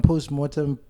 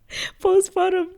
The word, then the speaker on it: postpartum: And then there was no like post-mortem depression. Did I say it right? Yeah. It's mortem. Post-mortem. You're going to make me doubt myself, bro. Postpartum depression.